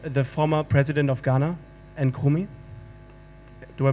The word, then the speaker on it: Nkrumah: It is the museum of the former president of Ghana, Nkrumah. Do I pronounce that right?